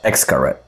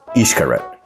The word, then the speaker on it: Xcaret: Before I got here, I kept calling this place Xcaret. It's actually pronounced Xcaret, which means inlet in Mayan.